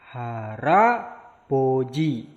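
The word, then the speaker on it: 할아버지: Berikutnya hal aboji. Maka cara pembacanya haraboji. Jadi disambung realnya itu haraboji. Nah, berikutnya ada jibe.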